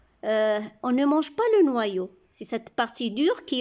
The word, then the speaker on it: noyau: On dit noyau, on a dit oi, les lettres oi font le son wa, donc noyau. On dit pas noyau, un noyau, donc y se lit deux fois, une fois pour chaque syllabe. Il complète la première syllabe et il fait le son y pour la deuxième.